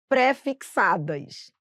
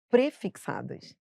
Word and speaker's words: prefixada: de pesquisar por exemplo as pessoas falam parcelas pré-fixadas infelizmente não vai poder falar assim são prefixadas E aí você vai gravar junto entendeu agora